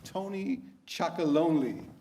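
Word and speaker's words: Tony's Chocolonely: And then, Arjan, tell us about Tony Chocolonely. Oh, you pronounce it pretty well.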